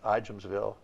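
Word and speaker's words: Ijamsville: uh and out in igemsville is that how you pronounce i am still i am the j the the j is silent maryland uh that's what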